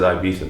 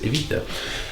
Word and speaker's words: Ibiza: So many people absolutely rinse me for not pronouncing Ibiza properly. Everyone in England says Ibiza, but apparently the right way to say it is Ibiza.